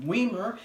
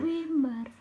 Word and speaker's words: Wimar: But when you're in a predominantly English spoken country, you're gonna have people mispronouncing it, calling me Weimer, and I'm going to get bullied. Wimar.